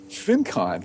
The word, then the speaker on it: FinCon: How are you pronouncing that, by the way? FinCon.